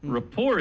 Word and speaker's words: rapport: Rapport is a very good word. It's a French word. The T is silent in rapport, but it means to